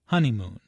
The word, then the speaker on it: honeymoon: There are 3 syllables in honeymoon, with a stress on the first syllable, honeymoon.